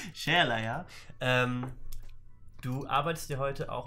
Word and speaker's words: Sherlaya: Shalaya. Ohne Ö. Ohne Ö. Shalaya.